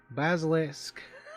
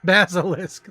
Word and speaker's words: Basilisk: the OB the bastic I can never say it correctly basalisk basilisk there we go X hypers speed Mouse